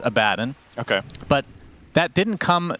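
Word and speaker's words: Abaddon: pronunciation first of all I understand that the correct pronunciation is a badden okay but that didn't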